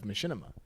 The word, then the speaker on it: Machinima: there's an insert featuring Rooster Teeth because of Machinima.